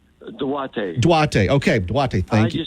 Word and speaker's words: Duarte: Am I pronouncing his first name right? Duarte. Duarte.